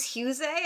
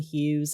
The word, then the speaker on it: Hughes: episode oh i think lum called hughes husey and i was like wait what's his name that's the thing a lot of a lot of people call it differently but i i i think right now ace calls him hughes and i usually go by ace's pronunciation because like i i